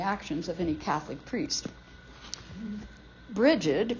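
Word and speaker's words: Brigid: of any Catholic priest bridgid pronounced breed in Gaelic is called the exalted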